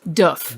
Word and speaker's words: Doof Warrior: So, you know how we say it, the doof warrior? That's not how you pronounce it. So it's pronounced doof.